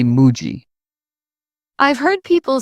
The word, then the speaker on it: Muji: People often call Muji with stress on the G. Japanese say Muji.